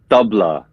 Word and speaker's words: tabla: I'm saying everything right so tablet is it tablet or Tabla it's the Tabla Tabla so Tabla is how we would say it so um so maybe